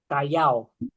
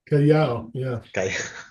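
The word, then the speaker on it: Callao: Kayajjo looks beautiful. The seapport. Yes. Cayo. Am I say how do you pronounce it? Cayao. Cayao.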